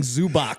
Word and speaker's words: Zubac: Yeah, there's no S at the end of it. Yeah, no S at the end of it. Zubac did go up and apologize after the game.